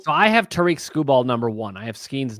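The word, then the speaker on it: Skubal: So, it's Screw Ball and Skis are my two uh top top tier guys.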